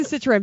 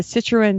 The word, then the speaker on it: Citroën: how is the Citroën paperwork?